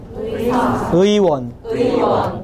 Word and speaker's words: 의원: 그래서 의가 첫 음절로 들어갈 때는 의로 정확하게 발음이 돼요. 의사, 의원, 의료.